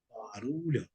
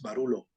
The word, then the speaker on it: barullo: Barullo, barullo. No es barulo, no, barullo.